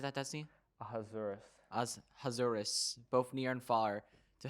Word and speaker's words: Ahasuerus: Ahasuerus, both near and far, to have them observe